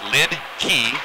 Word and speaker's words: Litke: straight from his mouth, he pronounces it Lid-Key, just like a lid, just like a key.